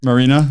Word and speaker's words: Maryna: is that said right marina but it's good marina and your last name is pronounced that's correct yeah okay marina okay well